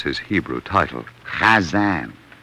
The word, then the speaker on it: Chazan: Chazan. Hazan? No. Chazan. Ha. Ha. Hazan. No, look. You must first take the sound and roll it up like a little ball, and then flip it out like this.